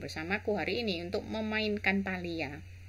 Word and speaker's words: Palia: hari ini untuk memainkan Thalia Thalia orang bilang cara membacanya guys jadi semoga hari